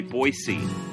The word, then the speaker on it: Boise: Boise Idaho and they want you to say Boise oh boy which is P because it's it